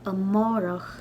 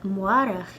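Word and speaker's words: amárach: So yesterday in Irish is inné, today is inu, and tomorrow is amwarach. In Connacht and Munster, I believe they would pronounce tomorrow more like amórach. But in Ulster, it'll sound more like amwarach.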